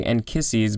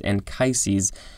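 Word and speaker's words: Anchises: that's how it's pronounced i wanted to say and kisses but the pronunciation guide is telling me it's ancient capital a-n-c-h-i-s-e-s this is a noun from the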